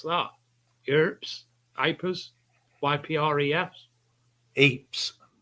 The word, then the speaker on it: Ypres: right there wipers how' you spell how you pronounce that hers aers Ypres Eeps Eeps is a highlight and Hill 62 is the